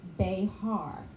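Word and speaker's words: B'ehar: today's session is bear that's spelled be apostrophe h a r apparently there's no e in the Hebrew language so we just want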